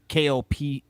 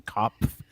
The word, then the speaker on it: Kopf: Kopf, I believe is how you say her last name. Kopf.